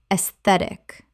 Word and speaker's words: aesthetic: aesthetic Three syllables. The AE makes an E sound and the stress falls on the second syllable.